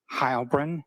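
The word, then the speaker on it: Heilbrun: My name is Hybrin. That's spelled and then H E I L B R U N.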